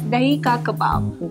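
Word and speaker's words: दही के कबाब: with the pronunciation oh so that's deika Kebab deika Kebab that's what I've pitic okay so um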